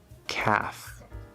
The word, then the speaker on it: calf: Half, calf. These are silent L's. As we will learn soon, A with a silent L is usually pronounced with the fifth vowel sound, ah. However, these two words are pronounced with the fourth vowel sound, laugh, yeah, than.